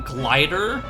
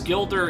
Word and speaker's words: Gilder: these names, so like I didn't realize that his name was Gilder, so I called him Glider. Which, I mean, that's still a pretty cool name regardless, but his name is, I believe, pronounced Gilder.